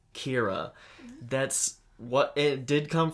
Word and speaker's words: Kira: actually kirakita but still kira is a like colloquialization whatever however trans literation of killer in english like if you were to create a english word and make it into japanese vowels and pronunciation it would become kira that's what it did